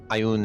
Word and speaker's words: Ioun: about the same thing ion is ion ion is ioun so the very rare